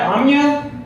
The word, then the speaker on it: Omya: I just want to know that am I pronouncing it right Amya yeah yeah oh man here we go I